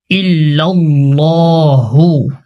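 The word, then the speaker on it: إلا الله: এখানে আল্লাহর শব্দের যে লাম আছে এটাকে মুখ ভরে মোটা করে উচ্চারণ করার নিয়ম।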